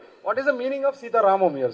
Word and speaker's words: Sita Ramam: So whenever the ending of that defines it's the story belongs to that.